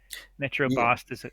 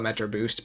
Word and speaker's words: Metrobost: Metrobost is a weird one. I always want to call it Metro Boost, but then sounds like a wireless carrier.